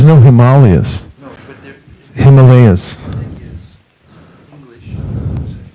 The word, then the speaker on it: Himalaya: Himalayas.